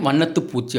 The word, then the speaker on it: வண்ணத்துப் பூச்சி: அப்படின்னு சொல்லிட்டு வரணும் அடுத்து வண்ணத்தி பூச்சின்னா கிடையாது வண்ணத்துப் பூச்சி அப்படிங்கிற மாதிரி சொல்லணும் அடுத்து வெந்நீர் அப்படின்னு சொல்லக்கூடாது